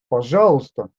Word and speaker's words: пожалуйста: Позвони ей, пожалуйста. This letter is taken into brackets because it is silent.